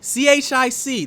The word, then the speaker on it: chic: I'm saying if you see CHIC, that is chic. That is how the I word see is spelled CHIC, and I'm pronounced.